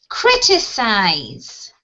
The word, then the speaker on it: criticize: And when we have the I-Z-E, we shift two syllables, which is 1, 2, to the left.